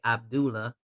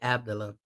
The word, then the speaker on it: Abdullah: Abdullah Mason, that's how he pronounced it. I want to say Abdullah, but I heard him say his name and he said Abdullah.